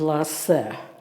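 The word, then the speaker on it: Laussel: The next slide is a photograph of the Venus of Lass. That's how Tim said to pronounce it.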